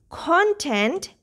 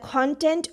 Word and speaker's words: content: Here we have the stress on this part, on this syllable. Content are things that are inside something, like the content of a book or the content of my YouTube channel. I'm a content creator. And then content. Here this part is unstressed. This syllable is unstressed, and tent is a stress.